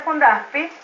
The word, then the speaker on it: FundAspie: fundasi pie Ah termin se pronuncia fundasi pero cuando lo vas a escribir escribe fundas pie porque la es moda